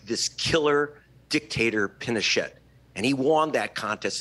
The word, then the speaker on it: Pinochet: you pronounce uh uh pinochet's name with a hard t at the end i i had always